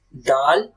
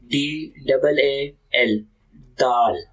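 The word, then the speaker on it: د: So this is dal. So if you cannot pronounce, so you can spell the letter. Okay, DAAL, dal.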